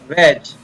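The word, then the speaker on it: wedge: इसी प्रकार व ए ज, वेज।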